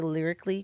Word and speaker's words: lyrically: because I like games, and we're gonna play Lyrically Correct.